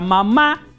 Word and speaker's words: mamá: Sin embargo, en español, por influencia del francés, le pusimos el acento en la última A. Entonces decimos mamá.